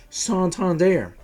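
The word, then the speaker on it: Santander: to say is Anthony sander apparently he changed the way he pronounced his name to sandir that might be a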